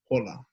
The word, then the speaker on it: hola: So when you have half hour, you're going to say hapalua, e ho'opili mai, hapalua, hola. And not like hola in Spanish, hola. You're going to pronounce that H.